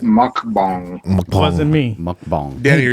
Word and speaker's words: mukbang: It's So, pronounced mukbang.